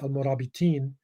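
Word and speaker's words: al-Murabitun: a fan of the murabi tune it's pronounced al-murabi teen you know in when it's majiro it's in a sentence but it's you know when it stands by itself that's what alfonso saw and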